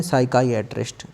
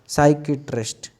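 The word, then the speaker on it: psychiatrist: तो इसको हम बोलेंगे साइकाइएट्रिस्ट, साइकिट्रिस्ट, कोई कोई इसको बोलते हैं साइकेट्रिस्ट, साइकेट्रिस्ट और साइकाइएट्रिस्ट। मतलब मैंने इसको स्पेलिंग की वजह से साइकाइएट्रिस्ट पढ़ा है, कोई कोई इसको बोलते हैं साइकेट्रिस्ट।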